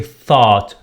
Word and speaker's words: thought: thought. اوكي. thought نخرج لساننا، نضع لساننا بين أسناننا.